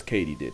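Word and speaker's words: katydid: hey editor casual here it's come to my attention that i completely butchered that word turns out it's katie did as in did katie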